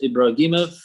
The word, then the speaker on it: Ibrahimov: the last name is Ibrahimov. It's like in Arabic version, it's like Ibrahim, Ibrahim.